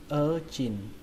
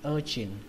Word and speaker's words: urchin: Còn cái từ thứ hai này các bạn đọc là urchin, urchin, trọng âm của nó rơi vào âm đầu tiên, âm ơ, urchin, và âm chờ này là âm chờ bắn hơi các bạn nhé, urchin, urchin, sea urchin, sea urchin.